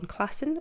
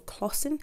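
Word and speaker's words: Klassen: um author illustrator called john classen or claussen i think it's pronounced who is a canadian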